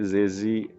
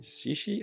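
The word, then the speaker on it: Zhezhi: Charlotta, Rosira, Bren, Zani, Zezi, Canterella, Carmitia, and the last one. No, I have 6 one. Yes, I don't think you say Zezi. Shishi.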